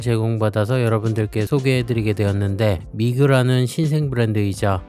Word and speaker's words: Mige: 이번에 신규 업체로부터 시계를 제공받아서 여러분들께 소개해 드리게 되었는데 미그라는 신생 브랜드이죠. 한자명을 읽으면 미그 혹은 미거라고 발음하는게 맞을 듯합니다.